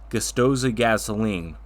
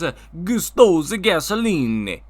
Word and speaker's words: Gustosa Gasoline: So anyway, over in Italy, you have become well known for your popular gas station chain, Gustosa Gasoline. I am pronouncing that right, aren't I? No, it's Gustosa Gasoline.